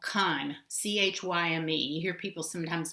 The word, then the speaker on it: chyme: that we call khan c-h-y-m-e you hear people sometimes mispronounce it as chime like a doorbell but it's chyme the ch is pronounced like a k this chyme leaves the